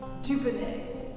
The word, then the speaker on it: Dubonnet: And then he realized I'm a genius, because phonetically in French, Dubo looks good, Dubon tastes good, Dubonnet, the name of the brand.